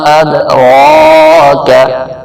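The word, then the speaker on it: أَدْرَاكَ: نہیں کہیں گے، اد۔ وما ادراک، را کے پر کھڑی زبر بھی ہے اور را موٹا بھی ہے، یہاں پر سوری لال کلر دینا بھول گئے تو یہاں پر آپ نے تھوڑا سا اس کو کھینچنا بھی ہے اور موٹا بھی را کو کرنا ہے کیونکہ را پہ زبر ہے۔ ادراک، کاف باریک، مل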